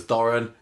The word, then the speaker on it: Doran: I think that Coronation Street's thought process was Doran rhymes with foreign, that'll do.